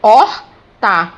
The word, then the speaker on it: horta: por aí né meninos da palavra horta é grafado com h mas quando eu vou para anunciar coloco horta é apenas o ok é pronunciada a partir do ó assim como hora